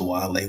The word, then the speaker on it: Guale: But yeah, they want to talk about the Ogeechee River, the Guale people, Guale Pronounced Wale with a Y though.